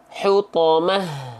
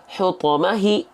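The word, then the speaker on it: حطمة: apa menjadi sukun Nah makanya dibacanya hutomah bukan hutomahi ya tapi hutomah gitu karena harakat kasrahnya di sini diganti menjadi sukun nah gitu ya Oke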